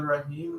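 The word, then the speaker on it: رحيم: The Rahim, like you elongate at the end. Yes, so Rahim could be Bismillahir Rahmanir Rahim. You could go 6 counts.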